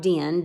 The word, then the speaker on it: Dynne: discord and it just simply means it sounds a lot like Din di n okay although his name is spelled ey in any the word din